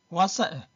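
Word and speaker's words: 哇塞: 와사인 일단 사인는 발음이 두 가지인데 사인가 있고 서가 있어 여기서는 사입니다.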